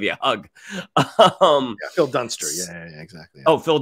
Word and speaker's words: Dunster: dunster excuse me um did I say Phil Dunbar yeah yeah I just wanted to let you finish your point before I corrected you yeah it's the wrong last syllable but it's a really important syllable don't come back I